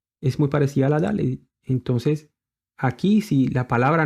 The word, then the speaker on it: Dalet: Y la palabra, la otra consonante que tengo aquí subrayada al final, la Dalet, se pronuncia como una D, la Dalet.